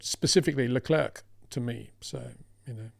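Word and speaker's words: Charles Leclerc: Out of interest, why do you pronounce shall clerk with a sh as in sh and not shall as in king Charles?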